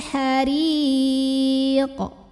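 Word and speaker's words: حريق: Adzabal hariq. Huruf ra dibunyikan secara tarqiq karena ra-nya berbaris di bawah kasrah. Maka bacanya tipis, lidah datar, ringan.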